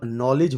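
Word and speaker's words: knowledge: फिर ऑनर में H silent है, आवर में H साइलेंट है और नॉलेज में K साइलेंट है।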